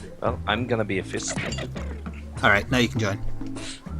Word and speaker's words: FYST: It is FYST, otherwise known as Fist, but spelled with a Y.